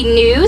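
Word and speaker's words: gnu: It sounds like they say new, so they can also be called new, and that is spelled G-N-U.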